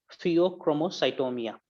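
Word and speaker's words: pheochromocytoma: फियोक्रोमोसाइटोमिया एक डिजीज का नाम मैं प्रोनाउंस करा.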